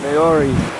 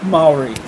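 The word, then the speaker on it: Māori: Apparently the ancient Maori No, David, it's pronounced Maori.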